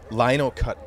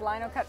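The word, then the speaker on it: linocut: happen to be standing in front of the Lono cut block is that how it's pronounced Lino cut block perfect can you do your Spiel tell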